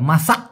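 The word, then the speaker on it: masak: মাসা মাসা মাসা মাসা এই ক কিন্তু ছোট করে হবে মাসাক মানে হল পাকা বা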